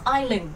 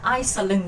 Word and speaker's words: Island: income đều là E chỉ có Island đọc là i Các bạn nhớ là mình đọc là Island chứ không phải là ising đâu nhá Island câu số 8